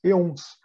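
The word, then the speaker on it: aeons: Se escreve com esse A aqui, mas a pronúncia mais próxima seria um E, porque isso vem do grego, aquele A que é bem junto de um E.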